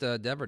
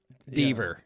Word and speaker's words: Dever: I used to think that Dever didn't rhyme with clever. Oh, you were one of those? Cleaver, Deaver.